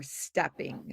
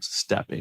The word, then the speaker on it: stepping: Chicago is the capital for stepping. Stepping. And it's Yep. actually pronounced steppin', steppin', Stepping. Right. Right. without the G, Exactly.